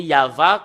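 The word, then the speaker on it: יהוה: Et le fait de le lire selon la Sainte Écriture hébreu, c'est Yava qu'on le prononce. Et vous ne pouvez pas faire une discussion et le contredire que c'est Yava.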